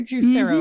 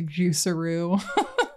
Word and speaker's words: Juicero: It was the Juicero, mm-hmm. right? Not the Juiceroo. Juicero is how I always pronounced it in my head.